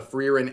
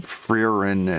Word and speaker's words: Frieren: So today we're gonna take some time and talk about the Frieren anime, which is currently airing, and it's very popular.